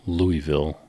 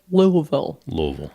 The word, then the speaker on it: Louisville: My kid says Louisville. Or no, she says Louisville. Louisville. I've been told you have to try to swallow it.